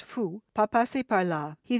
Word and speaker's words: faut: "Il ne faut," pronounced fou, "pas passer par là."